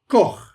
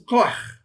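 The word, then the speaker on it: כֹּחַ: And then you have the patach and then you have the chet chet. So, koach. Koach.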